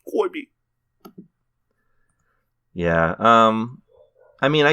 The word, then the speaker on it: Quibi: anything like this before i mispronounced what i said earlier i might say it's quivi it's koi be yeah um i mean